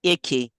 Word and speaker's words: Icke: I mean, I fell over a YouTube of David Icke. I don't like, like it's pronounced David Ick.